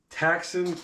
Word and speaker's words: Ktaxon: So, this is another Ktaxon kit. I think I said. I think the K is silent.